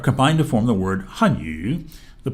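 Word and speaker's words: 汉语: In the example hanyu above, adding tones to the pinyin makes the first syllable a 4th tone and the second syllable a 3rd tone, as in hanyu.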